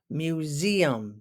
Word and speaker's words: museum: our next word m emphasis on the Z Museum do you like to